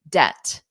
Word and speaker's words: debt: your friend family member the B is just not there so if you were to spell it phonetically you would do it like this D e t debt debt debt all right everyone so